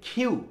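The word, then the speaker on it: Q: আসল উচ্চারণটা কিউ না, উচ্চারণটা হচ্ছে খিউ। কি বলতো? খিউ, খয়ের মতো, খিউ, খিউ, খিউ।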